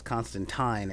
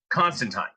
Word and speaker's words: Constantine: uh one panel that says constantine it rhymes with time when every media depiction